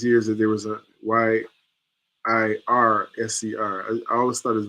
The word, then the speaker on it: Yirser: in Chicago, he said your name should be pronounced Yirser.